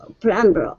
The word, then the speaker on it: plumber: I'm a middle-aged, clean-cut professional plumber of many pipes. Okay, very good, very good. All right, let's go to the word plumber. Right here, the B is silent.